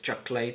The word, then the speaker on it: chocolate: Es decir, bread, chicken, que es lo que decíamos antes, chocolate, ¿se acuerdan de esta palabra? Chocolate, 2 sílabas, chocolate, butter, cheese, fish, lettuce.